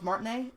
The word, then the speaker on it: Martinet: characters have okay not that I expect Charles martinet that's how you say it so to voice